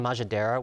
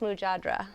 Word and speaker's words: mujadra: We absolutely loved the chicken majadera. It was basically grilled chicken tenders atop a bowl of fried lentil rice with fried onions and pine nuts. The mujadra. It's pronounced mujadra.